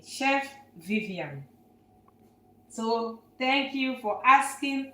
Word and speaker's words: Viviane: My name is Vivian. So we spell it V I V I A N E.